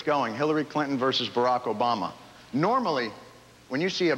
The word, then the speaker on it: Obama: Barack Hussein Obama is his name. His middle name is the last name of Iraq's former tyrant. His last name rhymes with Osama.